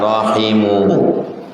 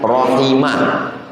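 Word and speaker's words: رَحِمُهُ: Wa rahimuhu, bacanya rahimu marfu, bukan rahimah, bukan rahimi, bukan majrur, bukan mansub.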